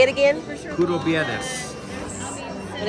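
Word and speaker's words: κουραμπιέδες: Curo Viernes.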